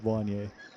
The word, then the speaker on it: Wanye: But it's not really what inspired me to be Wanye. It's based off of Wanya. Wanja. But I thought I'd Americanize it so people would find it easier to pronounce.